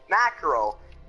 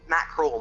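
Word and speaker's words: Maccrule: But yeah, Macro. M-A-C-C-R-U-L-E. Mackerel, my bad.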